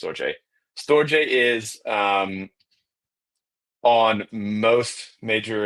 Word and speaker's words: Storj: Storj, it's technically called Storj, pronounced Storj.